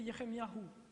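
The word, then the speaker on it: ירמיהו: du nom de Dieu, et leur nom se prononce ainsi. Pour Élie, c'est Eliyahu. Pour Jérémie, c'est Yéremiyahu.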